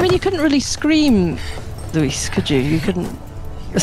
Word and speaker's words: Luis: you know yeah yeah you guys make it one syllable because that's how we pronounce it in Spanish Luis Luis yes my English drolls it